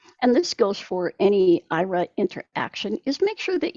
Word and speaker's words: Aira: covid dash promotion and ira is spelled a i r a so that's ira